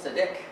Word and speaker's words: Seediq: This word is stressed, the last syllable, Seediq. It's only got two syllables.